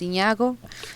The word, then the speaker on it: Zignago: social media as Zago Zig n a o it's pronounced Zago like lasagna um you can find